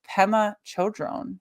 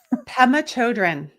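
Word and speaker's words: Pema Chödrön: And I've just realized, is it Pema Chodron? Have I been saying that wrong for like 15 years? Pema Chodron. Yeah. I have been saying it wrong for a really long time.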